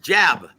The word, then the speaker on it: jab: Look, he's the only guy that I've ever seen that pronounces the word jab with two syllables. Now, Julio Cesar Chavez has to throw out the jab. I'm like, Sugar Ray, no, it's jab. Jab. One syllable, one little word.